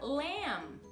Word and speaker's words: lamb: Outro exemplo do B mudo é a palavra lamb. Lamb, tá? É o carneiro. Carneiro é manso. O carneiro, lamb, ok? Ou cordeiro, né? Cordeiro, lamb, lamb, sem o B no final.